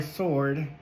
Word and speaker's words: sword: Sorry, sword. I say Zord. If you guys don't know, you're new to the channel, I say Zord instead of sword. I have this mispronunciation because of Power Rangers, whatever.